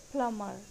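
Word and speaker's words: plumber: Next is प्लम्बर, mostly लोग इसको प्लम्बर बोलते हैं जो कि गलत है, इट्स सही प्रोनाउंसिएशन है प्लमर, प्लमर।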